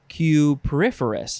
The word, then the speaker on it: cupriferous: Cupriferous? Cupriferous, yeah.